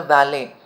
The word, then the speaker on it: valet: was carried by the valet v-a-l-e-t the t is silent vale the valley the personal